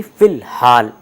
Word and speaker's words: فی الحال: ہے کا استعمال ہے۔ تو یہاں آپ دیکھیے کہ الف لام کے بعد ہے استعمال ہو رہا ہے جو کہ حروف قمری میں سے ایک ہے، اس لیے الف لام کو آپ تلفظ میں لا رہے ہیں، یعنی فی الحال۔ ٹھیک اسی طرح سے